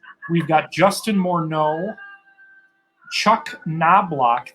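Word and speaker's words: Knoblauch: got justin morneau chuck knoblock the k is silent byron buxton goose gosselin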